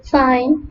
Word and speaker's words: sign: The letter G is not pronounced when it comes before letter N in a word. For example, design, foreign, sign, and align.